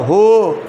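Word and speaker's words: who: দেখো এখানে ও আছে ও থাকলে এইচ এর উচ্চারণটা হবে বলো হু হু হুজ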